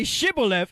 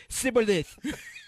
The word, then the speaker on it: Shibboleth: They said, say Shibboleth, and he said, Sibboleth.